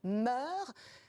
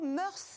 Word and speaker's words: mœurs: La règle officielle est de ne pas prononcer le S final, même si mœurs est un nom féminin, pluriel, invariable. On doit dire meurt.